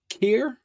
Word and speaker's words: Khayr: you're doing now now Tales of Kier is that how you pronounced it yeah okay talk to us